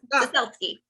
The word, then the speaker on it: Ciesielski: Yes, Ciesielski.